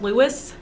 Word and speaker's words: Louis: louis armstrong lewis armstrong i assume we should call him louis armstrong i'm gonna keep calling him louis he called himself apparently louie was also a nickname because his wife called him louie but he called himself lewis that's interesting um and